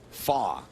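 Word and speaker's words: Fach: in front of him pay no attention to the consonant it's pronounced Graham fa he's of German descent Canadian from gelf Ontario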